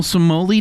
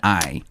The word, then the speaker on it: spumoni: It's National Somoli Day. It's an Italian ice cream with cream, fruit, and nuts. There's no way that I said it right. Spumoni.